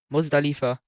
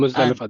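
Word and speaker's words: Muzdalifah: to Muzda, I forgot how to say it, Muzdalifa. Yeah, Yeah, and Muzdalifa, that's correct.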